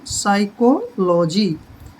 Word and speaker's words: psychology: अब जैसे ये है PSYCHOLOGY, ये फिजियोलॉजी नहीं है, इसको P जो है इसमें साइलेंट है, इसको पढ़ेंगे साइकोलॉजी।